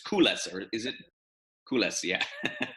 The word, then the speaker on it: Koules: It's called, well, it looks like it's pronounced Cool, the Cool Fortress, but it's Koules, or is it?